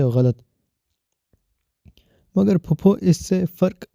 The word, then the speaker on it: غلط: درست تلفظ مرغی نہیں، مرغی ہے، اور یہ غلط نہیں ہوتا، غلط ہوتا ہے، غین سے غلط۔ مگر پھپھو، اس سے فرق کیا پڑتا ہے؟